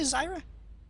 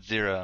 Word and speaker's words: Zyra: Yeah, he's got that deforestation in this game, actually, because, see, Zyra's a plant. Or Zira. No, it's Zyra. It's actually Zyra? If you call it Zira, I'm going to find a way to hit you through this internet.